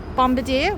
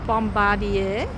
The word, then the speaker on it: Bombardier: I I pronounce it other people call it Bombadier which is not very nice cuz that's the bombers uh not the not the company's name so they borrowed a a nice bombarder or Bombardier as I call it